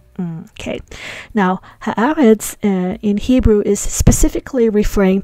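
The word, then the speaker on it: הָאָרֶץ: And if we say ha'aretz, that means the land. So eretz means land, but when there's a ha attached to it, we pronounce it as aretz. So ha'aretz. Okay. Now ha'aretz in Hebrew is specifically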